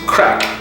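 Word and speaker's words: craic: And crack is spelled like this because Irish has a different spelling, and crack is kind of like fun.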